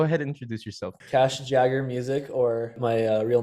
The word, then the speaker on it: Jaeger: have the great cash Jagger go ahead and introduce yourself cash Jagger music or my real name is Cash the middle name is after Mick Jagger not spelled the same way but that's kind of